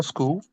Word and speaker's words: Skoll: one you call school? Yeah, school, yeah. So Okay. SKOLL. So it's spelled like Yeah, that.